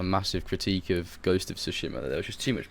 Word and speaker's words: Tsushima: I used to say Tsushima. But I don't know, I heard the characters pronouncing it Tsushima, so I was like, I'll just do it like that. Yeah, they go Tsushima or something. They overemphasize the S and make it sound like a T as well.